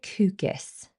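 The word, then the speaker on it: KUGGIS: I think you pronounce it cucus. K U G G I S.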